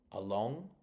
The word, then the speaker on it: along: Along it's on the on of the second syllable.